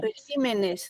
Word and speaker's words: regímenes: plural la palabra régimen Cómo se pronuncia o cómo se escribe la palabra régimen en plural régimen regímenes se convierte en esdrújula muy bien colegas la